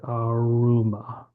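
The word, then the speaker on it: ἄρωμα: So I would say that's probably aruma. Yes. A aroma. Mhm. Which we we would pronounce aroma, but they would say aroma.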